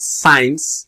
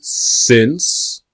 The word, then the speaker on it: since: But when we have the word since, not science in pronunciation, since, you have either the time or the date, right?